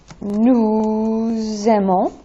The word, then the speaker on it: nous aimons: Nous aimons, vous aimez, ils aiment, elles aiment. Now, yes, that is that linking, that liaison between nous, where the S is not usually pronounced, it becomes nous aimons, vous aimez, ils aiment, elles aiment.